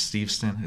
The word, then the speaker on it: Steveston: of, she writes about, I think it's Steveston is how you pronounce it, this town out west.